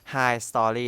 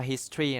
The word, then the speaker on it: history: ครับ ผิด นะ ครับ เคย มี คน บอก พี่ ว่า อ่าน ว่า อะไร รู้ ป ครับ High Story นะ ครับ พี่ ได้ ไป เขวี้ยง มัน ออก ไป นะ ครับ อ่าน ว่า history นะ ครับ น้อง ไม่